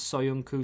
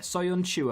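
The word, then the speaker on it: Söyüncü: a few people's names soyuncu soyunchu uh yeah soyunchu apparently is the way you say it don't worry about the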